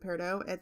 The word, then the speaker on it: Peridot: But for my class ring in high school, I chose Peridot, or Peridot, however you pronounce it. I pronounce it Peridot.